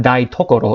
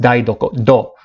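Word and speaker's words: 台所: So please notice the pronunciation change. It's not だいところ, it's だいどころ, だいどころ, the kitchen.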